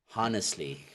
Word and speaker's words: honestly: of you know just honestly because that's wrong okay it's honestly Silent Age okay so method five